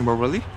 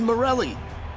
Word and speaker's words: Morelli: Why not work, Coach Morelli? What did you say, Toshi? Morelli? You said Morelli.